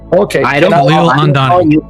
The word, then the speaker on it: Khalil Andani: My name is going to be mispronounced. I should correct it, right? Okay. I don't Khalil Andani. Khalil Andani.